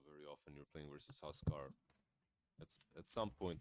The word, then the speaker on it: Huskar: Do you have your own way of pronouncing Husker in your native language? Is it just Husker, or is it like? It's Huskar.